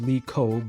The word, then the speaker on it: Lickcock: There are 4 kids' names with Lickcock at my son's school. Did you hear that? Lickcock. Apparently it's pronounced Lee Ko, but come on, so easy for the picking.